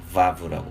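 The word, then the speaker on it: וָו: 여기 V 발음을 가지고 있는데요. vav라고 발음합니다.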